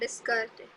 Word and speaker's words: Descartes: the Cartesian system what is his name Rene Descartes a that is is silent when you open the textbook or when